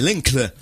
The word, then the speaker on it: Linkle: C'est Linkle. Linkle. Tu prononces comme tu veux.